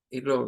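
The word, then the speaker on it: ear: es mover esto para irlo viendo mejor ahora vamos a lo que sería la la oreja o el oído este se pronuncia como ir miren es diptongo es diptongo e a es diptongo e a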